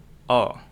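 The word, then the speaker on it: ㅗ: Dan huruf ketiga ada O. Ini O-nya beda dengan O Indonesia ya. Kalau O ini mulut kita agak lebar gitu.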